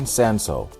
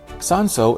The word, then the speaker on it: Cinsault: In this video, we are talking about South African sanso, which you will also see spelled without the L, and historically known as hermitage, and it's been grown in South Africa for over a century.